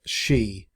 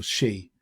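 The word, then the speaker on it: Xi: character whose name is spelled x i which i believe the chinese pronounce she but that got really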